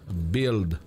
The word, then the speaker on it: build: 36 mille manières mais la vérité c'est qu'on prononce bild michael my world is opi repeat after me